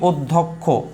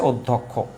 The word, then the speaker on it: অধ্যক্ষ: আর যদি পরে থাকে দ্বিতীয় বর্ণে, তৃতীয় বর্ণে, শেষ বর্ণে, মধ্যে বর্ণে, তখন এটা উচ্চারণটা হবে হচ্ছে ক এবং হচ্ছে খ। কি বলেছি? ক এবং খ একসাথে। তাহলে এখানে কি শেষে আছে, তাহলে অবশ্যই কি হয়ে যাবে? এ হচ্ছে ক হয়ে যাবে আর এ হচ্ছে খ হয়ে যাবে।